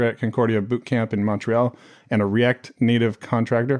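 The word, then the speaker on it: Montréal: to both uh like technically in French it's moral but obviously like if if you're speaking English you're going to say Montreal instead of moral which is like the French pronunciation okay do Canadian people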